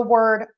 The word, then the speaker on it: word: So the word world and word. So word is pronounced w d like just the short e rer sound. Word.